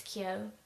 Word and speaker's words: Kyo: I think, were unsure about how I was pronouncing it, like it was Kyo or something, but it's Kyo.